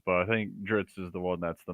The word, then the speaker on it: Drizzt: Salvatore probably gets asked a lot is how do you pronounce Dritz? And there's a few pronunciations, but I think Dritz is the one that's the most common.